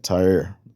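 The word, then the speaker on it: Tyre: the inhabitants of t tyer or Ty or tyer I think is T pronounced Ty you know and that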